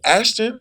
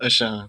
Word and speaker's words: Ashon: How do you say Ashton? Ashon.